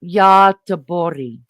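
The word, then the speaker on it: Göteborg: In Swedish, the city is named Gothberg. Is that how you say it? G O T E B O R Gen. Yeti. Say it again. Yeti. Roughly pronounced Yori.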